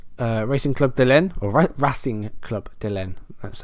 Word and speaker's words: Racing Club de Lyon: We're against Racing Club de Lyon, or Racing Club de Lyon.